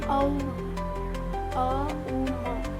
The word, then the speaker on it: ओम: उसका ओम उच्चारण नहीं, अ उ म, इन तीनों से बना हुआ लंबे स्वर में से बोलना होता है।